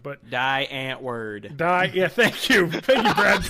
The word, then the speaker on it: Die Antwoord: they wanted to make the movie about like die antwered or Die Antwoord they actually I forget I'm gonna pronounce it wrong but die antw word die yeah thank you thank you Brad oh